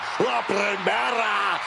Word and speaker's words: La Primera: La Primera, Stephanie, the care. You need to roll your R's a little bit on that, man. La Primera.